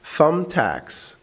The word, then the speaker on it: thumbtacks: Thumbtacks. خلي بالك هي الكلمة دي فيها بي، بس البي لما بتيجي قبلها ام مش بتتنطق البي، فتقول ثم لكن مش ثمب، لا ثم. Thumbtacks.